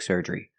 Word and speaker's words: surgery: is lasic lasic surgery pronunciation surgery use the r sound like Burger Sur both vows serery and the long e at the end like green beans surgery question didn't you just